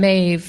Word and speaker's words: Maeve: It's like Steve, but instead of this st, we have a m. And then instead of Eve, which there isn't Eve in my name, but we say Ave.